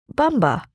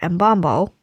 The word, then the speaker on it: Mbombo: Bumba or embombo or bombo both are used in retellings. The variation comes from colonial transcription. Bombo more closely matches how it's pronounced in the Kuba language.